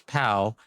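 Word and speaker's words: pau: Pal in Brazilian Portuguese is the same pronunciation as pal.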